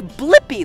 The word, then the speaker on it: Blippi: name do you know my name yeah it's blippy let's spell it together ready b l i PPI blippy